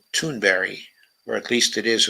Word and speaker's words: Thunberg: In the visionary words of Greta Thunberg, blah, blah, blah. Mm-hmm. Okay, it's not really Thunberg. It's pronounced Thunberry, or at least it is according to Amy Goodman.